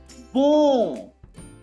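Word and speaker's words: bon: B-O-N. This is nasal. Boom. There is a nasal sound. Boom. And here, when I scroll down, it is simple bo.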